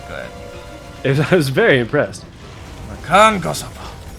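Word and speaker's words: Makankosappo: And thank you for pronouncing it correctly. You should be glad. I was very impressed. Makan Kosopo.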